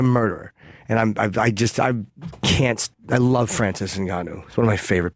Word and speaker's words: Ngannou: How do you pronounce his name? Francis Ngannou. Ngannou.